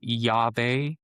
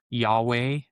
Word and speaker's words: Yahweh: So these four letters YHWH most commonly pronounced by experts as Yave, Yahweh are going to be the most common ones. If you went to the blue letter Bible, you can see that maybe it's Yhovah.